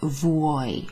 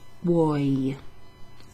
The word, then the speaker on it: vuoi: Puoi rhymes with vuoi, so it's got this U before the O. So u-o-i, vuoi. I like how you pronounce all of these sounds in Italian, you know. U-o-i, vuoi.